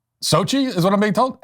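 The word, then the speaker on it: Xóchitl: you just can't it's Sochi is what I'm being told how that's Sochi that's how you pronounce that SOI say it again Sochi SOI hoha so the X sound is an S sound and then there's this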